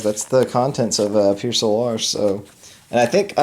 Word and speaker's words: Pier Solar: if you're a southerner it could be Pure Solar you know I I'm from Texas so I would tend to to say it like if I was reading it you know out of the textbook I'd say Pure Solar but let's just call it Pure Solar you know give it